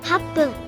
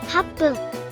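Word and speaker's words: 八分: Then add PPUN after, becoming HAPPUN 8分 and JUPPUN. 10分 Reading aloud, that's 8分 for 8 minutes, 10分 for 10 minutes.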